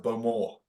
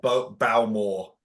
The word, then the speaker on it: Bowmore: They pronounce it Bowmore. It's not Bowmore. No, it's Bowmore. Bowmore, yeah.